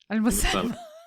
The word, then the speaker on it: Almasalmeh: I'm your host, Lee Safar, and today we start a new series, episode 1 of 5, with Almasalmeh. Did I say it right? Almasalmeh.